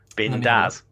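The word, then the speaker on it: bindas: I think it's pronounced Bindaz.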